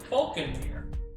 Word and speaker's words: Phaulkonmere: Which, by the way, if you're wondering, is spelled Phaulkonmere. Falconmere. Yeah. As you would expect.